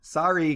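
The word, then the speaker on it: Sári: uh joshua gabor born sorry gabor on february sorry s-a-r-i okay sorry gabor uh with an accent on the a c siri i'm going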